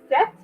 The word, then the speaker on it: cette: Now that third word, CETTE, set, the pronunciation is the exact same pronunciation of the number 7 in French.